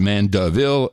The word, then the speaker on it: Mandeville: Pronounced Mandeville.